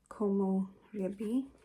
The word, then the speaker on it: Komorebi: So I'm going to go in with Komorebi.